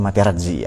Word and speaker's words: Materazzi: Tulisannya Materazzi, tapi cara bacanya Materazzi ya.